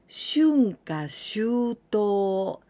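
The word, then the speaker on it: 春夏秋冬: And haru, natsu, aki, fuyu, but we pronounce like this in onyomi, shunka, shuto.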